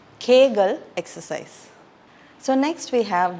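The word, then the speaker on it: Kegel: so this is the kagal exercise it's commonly mispronounced as keal exercise it's kagal exercise so next we have the autoist we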